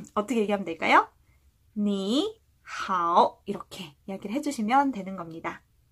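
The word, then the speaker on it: 你好: 好, 또 3성인데 니도 3성이라 니, 好 이렇게 이야기를 해야 되겠죠. 자, 똑같이 내렸다가 올리는 거를 2번 반복해야 되기 때문에 번거로워요. 그래서 3성과 3성이 만나는 소리에는 앞에 있는 3성을 2성으로 발음해준다 라는 문법 규칙이 있습니다.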